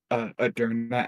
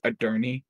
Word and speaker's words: Adurna: Yeah, because remember how I originally just mistakenly said Aderna as Aderny, and now that's just what I call Aderna a lot of times.